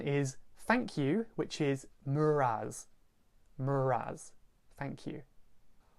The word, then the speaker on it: meur ras: Another one is thank you, which is muraz.